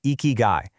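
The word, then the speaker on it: 生き甲斐: And for that, there's this incredibly powerful framework from Japan called eeky guy. It's pronounced eeky guy, and it basically means your reason for being.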